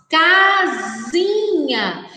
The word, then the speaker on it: casinha: Observem, crianças, que quando nós falamos casinha, a sílaba K está destacada aí em negrito, está uma cor mais em destaque, em negrito. K, C-A, casinha. Diferente de cipó.